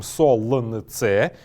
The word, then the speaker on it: солнце: Когда мы пишем их, мы записываем солнце с буквой «л» и лестница. Но когда говорим, мы произносим их как солнце и лестница.